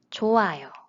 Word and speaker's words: 좋아요: The first syllable has this final consonant. And when we learned Hangul, we learned that these consonants make the sound sound. So you might think it's pronounced 좋아요 based on the rule we just learned. However, it's not. It is 좋아요. Have you ever thought about why there is no sound?